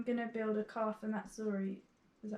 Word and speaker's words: Missouri: I'm gonna build a car for Missouri. Is that how you say it? Yeah, Missouri.